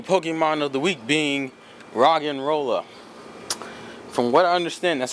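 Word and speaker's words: Roggenrola: pronounce his name and it's supposed to be a play on words it's like rock and roll because he's a rock type which is a really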